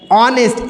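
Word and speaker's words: honest: सांड निकला एन लगाए ऑनेस्ट एच लेटर है लेकिन इस एच साइलेंट होता है साउंड क्या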